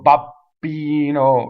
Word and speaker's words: babbino: hardly hear the difference single B BB the reason is you don't stop phonation and BB say Kenobi right not cannot be I hear that a lot right o mio babbino right BB and even